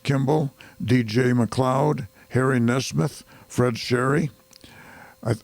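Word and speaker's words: Shary: DJ McLoud Harry Nesmith Fred Sherry I I think the name is actually shy but it's spelled s h a r y instead of s h o r y James Wilson Tae Wilson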